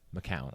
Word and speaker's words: McCown: want to mispronounce it it's mccown all right that's easy enough i see the g in there and it throws me off well it's not g it's actually c it's mcc man oh it's mcc